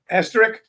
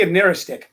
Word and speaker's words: asterisk: say this word wrong, asterisk. Is that how you say it? Asterisk. Yeah. Asterisk. Huh? An asterisk. An asterisk. I used to say a naristic.